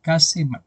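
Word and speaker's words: Käsemann: Jesucristo bueno ustedes busquen de ese autor K se escribe k a s e m a n casem cas y él muestra que Jesús hoy en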